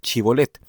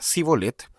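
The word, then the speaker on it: Shibolet: Si él respondía no le decían, "Di pues la palabra chibolet", pero él decía sibolet porque no podía pronunciarla correctamente.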